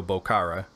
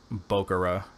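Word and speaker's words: Mario Bokara: pronounce this guy's name de penser always calls him Mario Bo Cara and from what I understand it's Bo Cara that's how I've heard him say it himself so this follow bot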